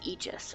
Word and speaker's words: Aegis: shield huh guards Aegis I did look up the pronunciation by the way it is Aegis I was correct so only one person